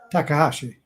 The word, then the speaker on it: Takahashi: How's it pronounced? Takahashi. Takahashi.